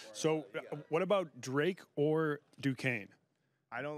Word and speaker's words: Duquesne: He was calling it Duquesne, which phonetically speaking is still not right. He put the N in front of the S.